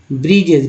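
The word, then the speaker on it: bridges: ब्रिजेस, डी को यहाँ बी डी ज में डी साइलेंट है, जी का इस्तेमाल हुआ ज के रूप में। ब्रिजेस, roads, airports, dams and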